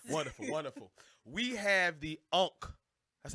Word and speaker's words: Ankh: We have the Ankh. That's how you pronounce it, right?